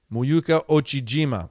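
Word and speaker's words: Miyu Uchijima: Muyuka Ochijima. Okay, nice work, Muyuka Ochijima.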